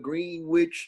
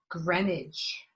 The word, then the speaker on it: Greenwich: address indicated in your resume there on the green witch street a greenwich what it's pronounced greenwich yes i say uh where are you originally